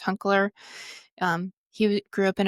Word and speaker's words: Hunkler: I think that's how you say his last name. I tried to phonetically look it up. I'm pretty sure it's Hunkler.